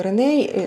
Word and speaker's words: Рене: Я інколи кажу Рене, інколи Реней. Це читається як Рене, але американці вимовляють це як Реней. Це так, як вони вимовляють слова Дейвід, Майкл, Олена. Вони можуть сказати, але їм простіше звичніше казати Олейна, Ірина, Айрина. Закругляють отак от слова. Тому Реней. Але Рене теж казати правильно.